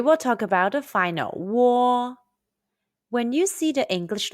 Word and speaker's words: uo: and o sounds say it's close to the british english word war say your lips are